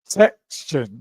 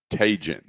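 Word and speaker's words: Taigun: Well, I was trying to figure I thought it was texton, but it's tagen.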